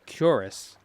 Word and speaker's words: cuirass: And I used to say Quiris all the time. But that's not how you say it. It's Cuirass or Quiras. And both don't sound right.